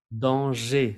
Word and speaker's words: danger: Danger, la R no se pronuncia.